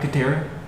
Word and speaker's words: Katara: okay oh katara my name isn't pronounced like waterbender chick from avatar by the way anybody